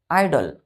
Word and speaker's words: idol: तीसरा, जैसे कि हमने बोला IDOL, आइडल। क्या पढ़ते हैं इसको? आइडल। ये देखिए IDLE, इसको भी क्या पढ़ेंगे? आइडल।